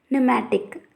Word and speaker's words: pneumatic: some examples psychology, terrain, pneumatic, etc. If we see the above words, the letter P before the S, T and N at the starting of the words is silent.